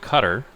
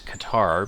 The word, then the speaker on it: Qatar: So they are called cutter by the way is the proper way to say their name. Um, we always refer to them as Qatar because we are American and we don't like care how people pronounce it.